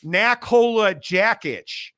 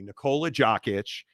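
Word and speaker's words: Nikola Jokić: gots right and uh naola jackit V parade I love mispronouncing names uh here I'll say it correctly nicolea joic uh one dunk for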